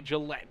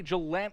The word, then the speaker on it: Gillette: love says number 30 last name is pronounced like Gillette shaving cream okay Gillette Gillette I kind of figured I wasn't sure if some people say Galant or or potentially Gant